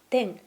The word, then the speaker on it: 転: It is pronounced TEN or KORO(GARU).